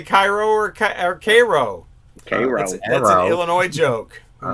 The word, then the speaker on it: Cairo: K-Row.